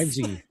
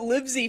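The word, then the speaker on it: Livesey: Livesy. Yeah. I I I was pronouncing it Livy for a while, then it's like I'm like, it's Livy?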